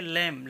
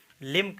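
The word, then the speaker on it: limb: फिर देखें लिम्ब, ये लिम्ब लिखा हुआ है, ठीक है, लेकिन इसको बी साइलेंट है इसलिए इसमें हम लिम्ब इसको कहेंगे, केवल लिम, लिम बोलेंगे, ठीक है, लिम्ब नहीं कहेंगे, लिम का मतलब अंग हो गया, ठीक है।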